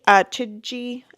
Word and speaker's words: Chidgey: Chidgey, I think is actually how you pronounce it. I don't think the G is a hard G.